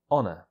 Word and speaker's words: honour: is exactly the same the stress is on the first syllable so onor and do note that